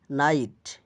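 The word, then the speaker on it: knight: শব্দের শুরুতে কে এন থাকলে উচ্চারণ হবে শুধু দন্তন্য। কে অনুচ্চরিত থাকে উদাহরণ নলেজ জ্ঞান নাইট অসারহী যোদ্ধা নি অর্থ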